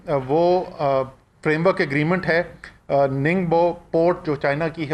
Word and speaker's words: Ningbo: سی pack کے لیے۔ NINGBO۔ میں نے آج ننگبو، اچھا میں آج کیانی صاحب میں بتا رہا ہوں صرف سپیلنگ نہیں، میں نے آج میٹنگ سے پہلے